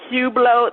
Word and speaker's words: Hublot: It's called Hublot. That's how we pronounce it.